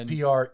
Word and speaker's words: Preik: And then that's Preik. Eik, like the song. Okay. Old McDonald, E-I-E-I-O. E-I-O. There's no O though. And there's only one E-I. But it rhymes with bike.